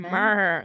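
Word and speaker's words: Mère: Mere. M-E-R-E with an accent on the last E, and it's just so peng.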